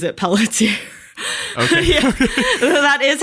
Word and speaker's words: Pelletier: That's how you would pronounce it correctly, but he just pronounces it Pelletier.